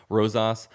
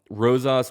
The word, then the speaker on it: Rosas: I think that's how you say his name, Rosas.